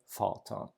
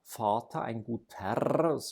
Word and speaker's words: Vater: I have ein guter Vater. The R is not pronounced, it's vocalized, but it is there